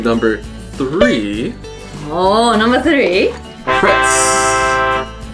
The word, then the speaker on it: Pretz: Pretz. Pretzel. Pretz. We say pretzel, I think. Yeah, but it's written pretz.